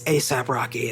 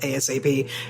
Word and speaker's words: ASAP Rocky: I said, "Oh, ASAP Rocky." And everybody like roll their eyes. It's like, "It's ASAP Rocky. It's not ASAP."